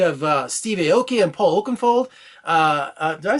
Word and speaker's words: Oakenfold: You have Steve Aoki and Paul Oakenfold. Did I say Oakenfold? I always say his name wrong.